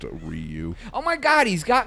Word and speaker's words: Ryu: I'm saying pardon me we always called him we're I you in my circle of friends Ryan yeah even though it's pronounced Ryu oh my god he's